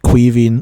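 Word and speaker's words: Caoimhín: is either Keieven or Que and he himself pronounces it quee. And that's also what you hear um in the it's all on this from Keller from the commentary he says Queah.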